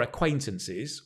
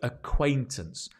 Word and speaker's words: acquaintance: qu the case so acquaintance notice the pronunciation A it's the sh qu Quay C way as in C way the way AC acquaintance acquaintance all together acquaintance good practice with